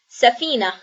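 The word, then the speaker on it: سفينة: And since there it is a short vowel and then after is the matching long vowel, it would be pronounced as an e.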